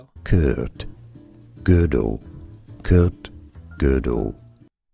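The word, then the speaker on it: Gödel: name was pronounced Uh but it's pronounced girdle.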